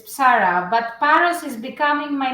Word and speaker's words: Psarra: I said your last name wrong. It is Psarra, right? It's Psarra, but Paros is becoming my last name as well.